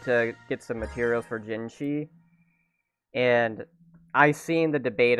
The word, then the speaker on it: GYEE: get some materials for gingi and I've seen the debate about her name which it's totally understandable because it's pronounced as gingi and in China how